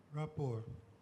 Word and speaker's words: rapport: your word is rapport rapport r-e-p-p-o-r-t that is correct another French word the T at the end there is silent let's go back to